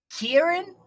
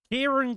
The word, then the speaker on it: Kieran: it Kieran yes is Karen but with an i instead of the a Karen doesn't have an